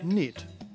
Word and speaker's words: knit: off Champion for 1971 notice that the word knit is spelled with a silent k all words in English